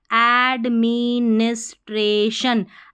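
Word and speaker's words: administration: fourth पर है हमारा ऐड ए डी ऐड एम आई मी एन आई एस निस टी आर A tray T आई ओ एन शन एडमिनिस्ट्रेशन एडमिनिस्ट्रेशन क्या पढ़ेंगे इसको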